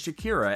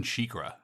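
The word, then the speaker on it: SheiKra: number one spot is Shakira at Busch Gardens Tampa I think you mean shikra oh yeah that's how you say it anyway it could be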